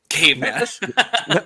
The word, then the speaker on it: Caveman: Caveman. No E. No E. No on E. that one. The E is silent. It's Caveman.